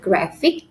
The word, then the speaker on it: graphic: Remember, if it ends with ik sound, okay, the stress is put in the second syllable before the end, because the end is ik, fig.